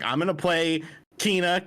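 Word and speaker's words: Kena: like i'm gonna play keena kenna how do you say it it's kinah yeah kina okay i'm gonna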